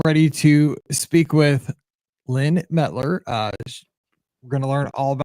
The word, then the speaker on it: Mettler: Mettler. I'm just used to everybody mispronouncing my last name my whole life.